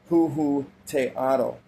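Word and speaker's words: Huehueteotl: We can find the same god worshipped by the peoples of ancient Mexico under the name of Huhuteotl, pronounced Huhuteotl, also known as Tata, meaning our Father.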